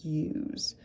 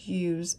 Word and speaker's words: use: Because we have to remember that the E is silent in the word use. All right, now that we've connected our sounds to our letters, let's write the word use out all together.